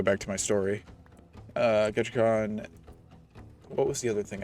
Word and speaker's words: Ketchikan: to a place called ketchikan which for some reason my mom kept pronouncing his cache wand which i just said sounded like szechuan sauce but you know we